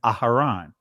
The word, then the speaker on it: Aharon: You'll see it pronounced just the way that you hear it's being pronounced. Instead of Aaron, Aharon.